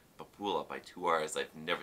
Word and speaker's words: Pupila: Pupila, that's it. That's how you pronounce it.